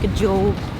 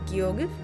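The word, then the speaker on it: Gjógv: No, the town is called Gajog. Huh. I don't know. Very cool. I believe it's actually pronounced Giog or Giov.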